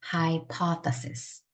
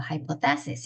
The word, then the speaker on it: hypothesis: hypothesis. 해보세요. hypothesis. hypothesis. 자, high 할 때 요건 i로 발음하셔야 되고, hypothesis 하면 강세란 뜻이에요. 가설이란 뜻입니다. 가설, hypothesis. 자, 그런데 이거를 강세가 여기 뒤에 있는 줄 알고 hypothesis 이렇게 읽으시면 절대로 안 돼요.